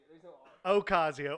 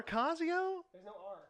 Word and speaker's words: Ocasio: cause EO Cortez all right there you go Ocasio or or Acacio Ocasio okay to me like do I want her